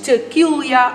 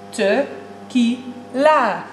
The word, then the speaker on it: tequila: Oké, als je er een paar achterover hebt geslagen, dan is tequila acceptabel. Maar je zegt tequila.